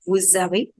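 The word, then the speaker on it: vous avez: So this woos aways will become woo zawe. Yes, this S will get transferred over here to the next word and the first will be pronounced partly, that will be woo only, and the last letter will join the second word, that will become zawe.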